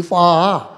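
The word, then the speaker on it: phở: The correct pronunciation would be fa.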